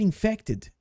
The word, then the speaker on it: infected: não posso ser infectada na pronúncia é quase que imperceptível esse t tá eu tô forçando um pouquinho para vocês perceberem que é o k mas quando a gente tá pronunciando algo a gente meio que quase não pronuncia esse t i drive bem levinho